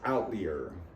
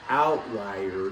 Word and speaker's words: outlier: I read this word, I was probably 16, and the word is outlier. Now, I since learned that the word is outlier because it's something that lies out of the normal expected range of information.